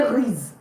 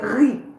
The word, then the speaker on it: riz: Please take note, I did not say riz. I said riz, riz, because the Z is usually not pronounced.